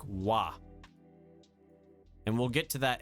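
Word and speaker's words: は: And so basically wa, it's pronounced wa, but it's read ha.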